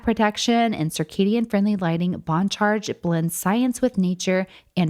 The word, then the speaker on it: Bon Charge: That's spelled in all caps and pronounced Bon Charge.